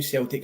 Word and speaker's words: Celtic: was actually our a Celtic cross which if you tuned in last week is with uh not with a soft C it's with a hard C gov so um well done yeah so Celtic cross was a white